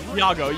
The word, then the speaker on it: Iago: uh how do I say his name Yago Yago yes there we go oh overhead going to